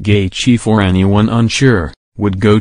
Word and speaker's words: Gaethje: Making his UFC debut, Gaethje, pronounced Gaethje for anyone unsure, would go to war with Michael Johnson in a sensational main event.